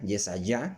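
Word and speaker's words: Yeshayah: de nuevo estamos leyendo Isaías vea yesaya que es como se pronuncia realmente ese ya es de yah al final y allá y todos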